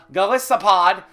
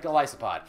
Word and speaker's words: Golisopod: famosa uh galissa gisa gasopod and tabuk coko I'm going to pronounce jpod wrong for the rest of my life Goliath and isopod so gasopod gospod right gospod let's start calling a